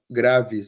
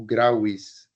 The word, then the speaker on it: graves: Então, como que eu declino graves, né? Ou grauis, segundo o método reconstituído de falar, né? Grauis, mas o método nosso, a nossa pronúncia é eclesiástica.